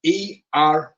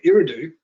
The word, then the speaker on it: Eridu: Google come up straight away, and he says, how do you spell it? I said, E-R-I-D-U.